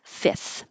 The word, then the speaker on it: fifth: This was an example of making something more easy to pronounce because fifth with an F before the th is difficult. So just drop it. Fifth.